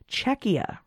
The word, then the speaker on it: Czechia: but the pronunciation is Czechia yeah I came to know because it's a maybe it sounds too close to Chechnya oh there you go